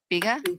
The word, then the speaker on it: Bega: Bega?